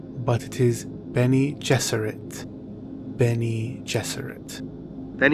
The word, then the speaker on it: Bene Gesserit: pronounce Akio then he just read some may pronounce it been ages or it or Benny Jesuit but it is Bene Gesserit Benny Jesuit then e Jesuit and Benny is